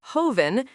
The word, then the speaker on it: joven: The word joven, pronounced joven, means young person, no accent mark.